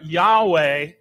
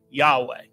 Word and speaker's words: Yahweh: just a wrong spelling it's really a wrong pronunciation of the Hebrew word Yahweh the true personal name of God revealed to Moses so